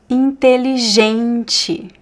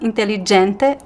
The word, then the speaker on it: inteligente: So this first "t" is "te" because it's in the middle. Here we have "j". It's not "d". Not "inteligente". Mhm. "Inteligente". And this last "t" "e" could be "te" or "chi". In my accent I say "inteligente". But you could say "inteligente". It's fine.